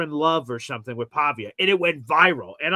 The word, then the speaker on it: Pavia: This diia, how do you pronounce his last name again in Philly? Pavia. Pavia. Pavia.